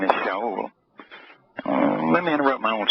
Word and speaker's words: Shaul: Shaul, which is with a, let's see, a shin, a aleph, a wah, and a lam, pronounced Shaul. Sometimes it's pronounced Sheol.